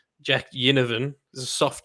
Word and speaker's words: Ginnivan: I don't know if it's a soft G or a hard G, so I'm just going to say Ginnivan. Jack Ginnivan is a soft G.